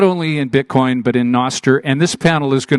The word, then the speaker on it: Nostr: to everybody not only in Bitcoin but in Noster and this panel is going to be great